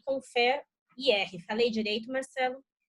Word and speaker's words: ConferIR: das empresas G-Click e Confer IR. Falei direito, Marcelo? Pronunciei direito? Falou. Só a última é conferir, mas tá tudo certo.